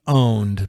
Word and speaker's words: pwned: I thought it was spelled pwned, but it's actually pronounced owned because it's just a different. Because it's like a typo.